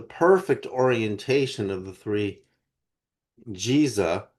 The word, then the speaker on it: Giza: Giza as in Jesus is is the true pronunciation. The way the Arabs pronounce what we call the Giza plateau.